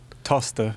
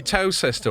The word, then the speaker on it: Towcester: Toaster. Yeah. Oh, very good. Because you'd think it would be Towcester or Towcester, but they shorten it. It's Toaster. Toaster.